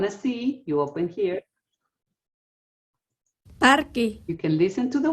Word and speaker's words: parque: what does parque mean parque any guesses it's almost like in English just what word sounds like that in English it sounds like Park it's Park so you so that's